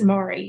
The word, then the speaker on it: Marye: So Marye's, we now pronounce it Marye, and it's spelled Marye, and that's a good example of a surname that started out M-A-R-Y-E, and it's now Marye.